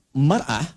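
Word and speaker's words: مرأة: Ya, kalimatnya sama, cuma cara bacanya beda. Al-mar'atu kal mir'ah. Yang satu pakai fathah, yang satu pakai kasrah.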